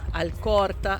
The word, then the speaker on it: Alcorta: A coisa do L. Malba, Alcorta.